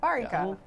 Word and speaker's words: Varinka: Varinka. I always like to pronounce it sort of like varying. It's like varying.